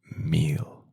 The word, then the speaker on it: mil: So is 1,000 or just thousand in Spanish is mill 1,00 or thousand is meal in Spanish is something that you